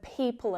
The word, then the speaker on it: people: Now you've probably heard the word people enough to know just ignore that O, right?